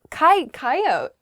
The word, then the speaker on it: coyote: backyard for example sure the next word is coyote i say coyote how do other people say this word coyote oh yeah coyote i don't say that a coyote is kind